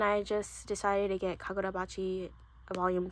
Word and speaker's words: Kagurabachi: I kept pronouncing this part and forgetting to pronounce the K-A. So I have Kagurabachi volume 3.